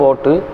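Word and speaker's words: باء: பே இல்லை, பா பா. பே இல்லை, பா பா பா.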